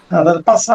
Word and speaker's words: PASA: এটার উচ্চারণ পাশা হয় কি করে? এস এর উচ্চারণ তো আহ, স না, এস এর উচ্চারণ হচ্ছে স। পাশা হবে।